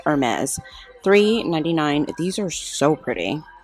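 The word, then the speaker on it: Hermès: Hermes. It's Hermes.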